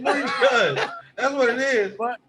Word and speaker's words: Buttigieg: It's booty. Okay, it's booty judge.